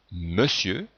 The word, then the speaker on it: monsieur: Dans monsieur, on entend bien le son E, mais on écrit ON.